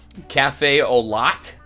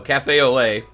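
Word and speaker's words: café au lait: Thank you to someone who commented in my comments for the last video, because I kept on saying Cafe au Lot, I think I said, but no, Cafe au Lait.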